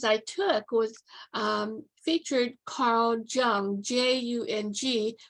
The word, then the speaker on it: Jung: And one of the courses I took was featured Carl Jung, Jung, pronounced Jung.